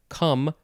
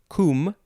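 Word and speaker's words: cum: it is the word you can pronounce it a couple of ways it's spelled c-u-m which can be said come or comb this is the first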